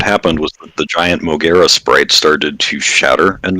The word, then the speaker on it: Mogera: But foolishly, I ignored it and proceeded to fight Mugiwa? Is that how you say it? Yeah, Mogera.